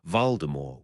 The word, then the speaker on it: Voldemort: Both Mr. Stark and Director Fury pronounced Voldemort with a final t.